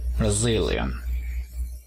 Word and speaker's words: Brazilian: El acento también está en la segunda sílaba. Brazilian.